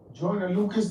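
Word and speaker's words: Joyner Lucas: And that joint right there, that uh Joiner Lucas, that's the right way to say it cuz I'm I his name.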